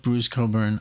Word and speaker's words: Bruce Cockburn: into wine I love Bruce Coburn um and I love that I can pronounce his name properly even though it's spelled totally different um I even showed